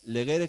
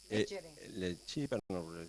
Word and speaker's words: legere: Eh, leguere, acabamos. Eh, legere quiere decir leer. Lechi, digo sin hacerlo pronunciación más vaticanista, pero digo legere leer.